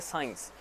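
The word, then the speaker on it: science: जैसे कि साइंस, साइंस में भी जो सी है वो साइलेंट है।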